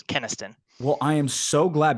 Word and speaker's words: Kynaston: It's totally cool, but it's Keniston. Well, I am so glad because I've been saying Canaston, and I apologize for that because typically what